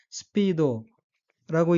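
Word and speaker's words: スピード: 따라서 단어 전체는 스피도라고 읽고 둘째 음절 B에 액센트가 있으며 스피오는 스피드 속력 속도란 뜻입니다.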